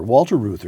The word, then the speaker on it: Reuther: up in a moment Walter root how's that pronounced Luther Luther Walter Reuther 1907 nineteen seventy built the United Automobile Workers